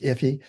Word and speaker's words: Ify: So iffy works with me uh and yes it's pronounced iffy um if you're nervous